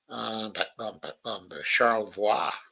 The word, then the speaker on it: Charlevoix: I think that's how they pronounce it. The French pronunciation is Charlevoix, but I doubt they say it that way in Michigan.